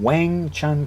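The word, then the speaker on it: Weng Chun: who studied or actually taught white crane in Wang Chun County not Wing w-i-n-g as as westerners would spell it but w-e-n-g as westerners would spell it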